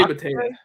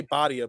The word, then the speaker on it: Bhatia: Akshay Bhatia. Bhatia. I always want to say Badia, but Bhatia.